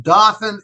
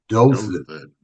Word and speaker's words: Dothan: A very respected and a wonderful guy, but I said, "And in Dothan, Alabama." And when I was all done, he said, "Allen, it's pronounced Dothan, Alabama."